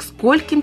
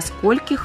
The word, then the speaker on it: скольких: иначе произносится данное местоимение До скольки - это ошибочная Форма которая не употребляется в русском литературном языке в грамматике русского языка используется форма слова скольких ударение в падежных формах местоимения сколько является постоянным на гласным первого слога и не смещается на гласное окончание вот как данное местоимение